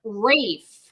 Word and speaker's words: Ralph: you say his name they don't pronounce the L they don't pronounce the L um Conan had a